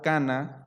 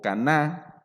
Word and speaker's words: Caná: Dice que ocurrió en un lugar llamado Cana o Caná, dependiendo cómo lo quieras pronunciar, si eres mexicano, hispano, anglosajón, judío o cualquiera que sea tu denominación.